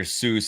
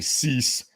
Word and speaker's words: Seuss: doctors in the house Dr Seuss it's actually cease uh cjcs is how you pronounce it um but he